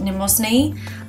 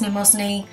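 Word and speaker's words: Mnemosyne: goddess um and then you don't pronounce the m it's just nemos knee and so it's just goddess numosni and the reason like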